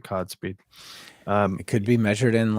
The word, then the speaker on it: CodSpeed: So that's my topic right now is the CodSpeed tool, and it's probably maybe it's CodeSpeed, but it's spelled COD, so I'm going to pronounce it CodSpeed.